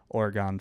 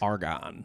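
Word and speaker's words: Argonne: the edge of the Oregon forest in the Champagne region of France. Argon. The Argon. How did I pronounce it? Orgon. I said Argon. I didn't say Oregon.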